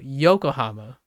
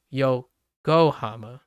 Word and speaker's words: Yokohama: times like yo like you don't go Yokohama you you go yo go hammer right so things like